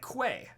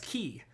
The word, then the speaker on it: quay: I'll be like, okay, well, how do you say Quuay? It's like quay. No, apparently that's key.